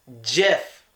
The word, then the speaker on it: GIF: be pronounced a gift it should not be pronounced gift even Webster's dictionary gets this one wrong Webster's